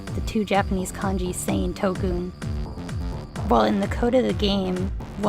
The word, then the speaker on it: 特訓: Así que mientras el juego en inglés se llama Special Training, en japonés se pronuncia Tokkun.